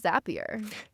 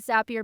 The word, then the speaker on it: Zapier: Oh, the pronunciation of the company is Zapier. Thank you. Always remember that Zapier makes you happier.